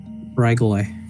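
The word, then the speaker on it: Ghrygaile: I believe that's spelled G H R Y G A I L E. Regal.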